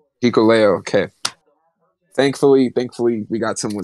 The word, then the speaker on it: Hikuleo: I don't know how to pronounce his name. You do, Berman? Yeah. Hikuleo. Hikuleo, okay.